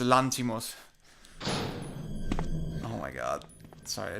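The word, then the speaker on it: Lanthimos: I just need to say I get so pissed off when Americans say Lanthamos. It's not a It's not It's He's Greek. It's a Lantimos.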